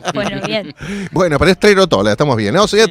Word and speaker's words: Trerotola: Bueno, pero es Trerotola, estamos bien, ¿no? Sí. Trerotola, sí, para los fanáticos del italiano.